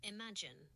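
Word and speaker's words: Imagen: It's pronounced imagine.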